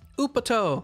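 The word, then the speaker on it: Upotte!!: t e and then exclamation mark exclamation mark upper toe let's go yes we'll go up toe oop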